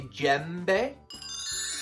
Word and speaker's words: djembe: Can you say djembe? Djembe. And it's spelled D-J-E-M-B-E.